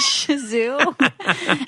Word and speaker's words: Shih Tzu: Shih Tzu? Yeah. Okay, I can spell it, but I can't pronounce it.